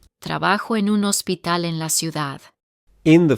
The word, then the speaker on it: hospital: We have a silent H in the word for hospital, hospital, and let's take a look at the Spanish word for city.